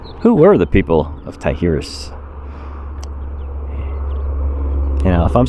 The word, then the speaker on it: Tijeras: were the people of taihirus you know if i'm saying it wrong i apologize i believe the j is pronounced as an h so i'm saying tihirus hunting gatherers 12 after